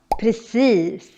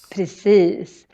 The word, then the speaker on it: precis: But also because of the I in precis.